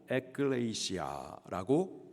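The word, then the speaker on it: ἐκκλησία: 있습니다 살아계신 하나님의 교회 교회를 헬라 발음으로 에클레이시아라고 말을 합니다 에클레이시아 에크 그리고 칼레오이 두 단어를 합해 가지고 에클레이시아라고 발음을 합니다 뜻은 밖으로라는 뜻이에요 출애굽기를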